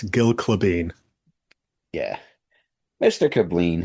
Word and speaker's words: Gille Klabin: Hey, listen, there's not a single conversation that doesn't start with me explaining how my name is pronounced. It's Gil Clevane.